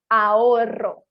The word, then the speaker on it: ahorro: E o vibrante múltiplo, que seriam 2 R, seria muito mais forte quando falamos arroz, ahorro, perro.